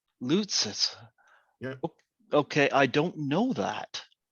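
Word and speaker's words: Loutsis: girl that played rose how do you say it sanaya lucis l-o-u-t-s-i-s loot says okay i don't know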